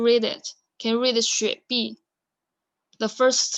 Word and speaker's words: 雪碧: Do you know how to pronounce it? So let's do it one by one. Sprite first. 雪碧. You can read after me. 雪碧.